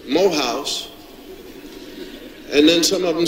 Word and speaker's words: Morehouse: I was at a dinner, a fundraiser for Morehouse College, and the president at the time was, who was the president?